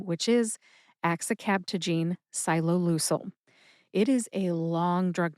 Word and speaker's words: axicabtagene ciloleucel: Let's move on to the generic name, which is AX-i-KAB-ta-jeen SYE-loe-LOO-sel.